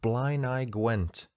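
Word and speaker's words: Blaenau Gwent: much spot on and i absolutely nailed the pronunciation of blind eye gwent cheers alex i wasn't sure i'd got that right cause it doesn't look like blind eye b-l-a-e-n-a-u but here that's the welsh language for you as always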